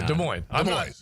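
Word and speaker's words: Des Moines: First of all, you you got to say the name right, Leo. De Moines and there's no S.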